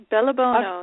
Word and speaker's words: Bellebuono: show I'm uh my guest today is Holly Bono did I pronounce it correctly Holly yes yes bellono you got it i' I've been working on